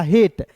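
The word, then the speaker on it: hate: अब देखिए याद रखना दोस्तों कि दो कंसोनेंट के बीच में ए आएगा तो उसका उच्चारण ऐ के रूप में करते हैं। ये तो सभी को पता है। लेकिन क्या आपको पता है दोस्तों कि अंतिम में इ जब भी दिखेगा तो इसका उच्चारण एक के लिए के रूप में करेंगे। हो जाएगा हेट।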